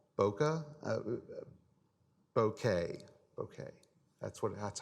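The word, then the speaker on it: bokeh: auto hope I get this wrong one right Bokke okay okay that's what that's how it's pronounced okay and that's basically portrait mode everyone it's called bouquet officially but you know you we call it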